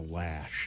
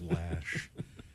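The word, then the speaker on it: Loesch: I think it's Dana lash I say Loach because it rhymes with roach it looks like losh but I think she called says lash uh here's boner candidate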